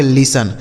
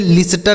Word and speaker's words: listen: से न, इसे पढ़ेंगे लिसन। इसे लिस्टन नहीं पढ़ा जाएगा बल्कि लिसन पढ़ा जाएगा। ठीक है, देखिए यहाँ T जो लिखा है ना, यह साइलेंट है, इसको नहीं पढ़ेंगे, तो इसे पढ़ा जाएगा लिसन।